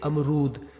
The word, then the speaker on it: अमरूद: अब आप खुद उच्चारण से देख लीजिए, अमरूद। रू का जो उच्चारण मैं कर रहा हूं, ज्यादा देर के लिए कर रहा हूं और उस पर जोर भी दे रहा हूं, अमरूद।